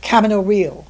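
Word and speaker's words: Camino Real: margarit goce in uh Cameo real and it is cameo realist the the American pronunciation not the Spanish pronunciation the Tennessee Williams play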